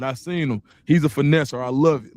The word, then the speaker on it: Finneseth: So, hey big last thing before I knew I used to always I call you Finesser, but I just thought I was and I said it on the show.